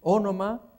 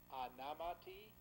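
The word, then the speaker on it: ὄνομα: Anamatas, anamati, anama, anamata, anamaton, anamasi, anamata. Fíjense que la O inicial suena casi como A, ¿no?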